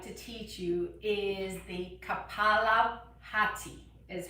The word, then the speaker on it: kapalabhati: i would like to teach you is the kapalabhati is how it's pronounced so basically um and i also this